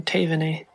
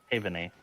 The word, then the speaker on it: Taevanae: I turn and I look for, correct me if I mispronounce it, Taevanae? Is that correct? Keep the A pronunciation, Taevanae. Taevanae, okay.